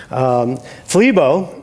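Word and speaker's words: θλίβω: to learn Greek today FLE bo rhymes with tim tebow that's true who's right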